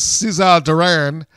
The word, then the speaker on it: Cesar Duran: name right because it doesn't spell it like Caesar, but I will say it in as Cesar Duran El Jefe, formerly known as Dario Cueto if you've watched Lucha Underground.